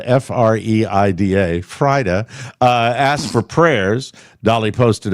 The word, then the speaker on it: Freida: She wants to assure fans that she is not dying after her sister Freida, it's spelled F-R-E-I-D-A, Frida, asked for prayers.